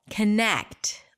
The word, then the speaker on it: connect: you're absolutely right it's the second syllable connect longer louder higher in pitch but if we were